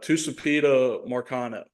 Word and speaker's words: Tucupita Marcano: Tucupita Marcano is how I'm gonna pronounce it. That's probably wrong.